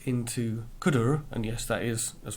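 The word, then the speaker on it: cdr: called cooter so when we pass X into CUDA and yes that is as far as I understand it how you pronounce it what we get back is a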